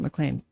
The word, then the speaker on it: McLean: They pronounce it McLean.